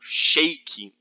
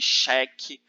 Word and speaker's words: xeque: já acabei explicar não xeque xeque é o rei ou shake shake na pronúncia árabe cheque na pronúncia persa nomine do é como